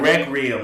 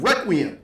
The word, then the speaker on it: Requiem: You said Requiem, like Rec Room. Say Requiem. Requiem.